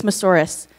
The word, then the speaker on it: Moussouris: It's Moussouris, like a dinosaur.